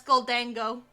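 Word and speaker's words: Gholdengo: That's Goldango.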